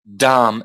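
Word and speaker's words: dhama: you see that word dom yeah yeah that's spelled d-h-a-m-a you don't pronounce the you don't pronounce the last a so you've got dom that is okay yeah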